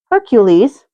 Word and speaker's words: Hercules: But you listen to Disney's Hercules, which, by the way, is the Roman pronunciation of said hero's name. Heracles is the Greek pronunciation.